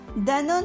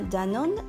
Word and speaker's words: Danone: Danone change d'orthographe aux USA et s'écrit Danone pour que les Américains le prononcent bien Danone et non pas Dan One.